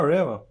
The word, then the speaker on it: Rewe: Ah, Rewe.